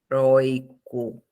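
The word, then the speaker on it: heroico: O som forte é aí nesta sílaba, não é? Ó, heróico.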